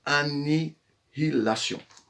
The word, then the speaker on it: Annihilation: Il ne faut pas se tromper dans la prononciation, c'est Annihilation.